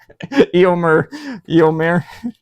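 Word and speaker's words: Éomer: This is Eio. Oh my god. Did I say his name wrong? Eio Eommer.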